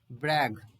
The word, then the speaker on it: brag: ब्रैग, ज नहीं बोलेंगे, ब्रैग ग बोलेंगे, ग ब्रैग। जैसे बैग होता है BAG, आर को हटा दो तो बैग, तो वैसे ही बोलेंगे।